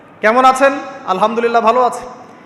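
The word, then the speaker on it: الحمد لله: আলহামদুলিল্লাহ ভালো আছি। তো আলহামদুলিল্লাহ না বলে সে বলেছে আলহামদুলিল্লাহ। তোযে হা এর উচ্চারণ পরিবর্তন হয়ে গেছে।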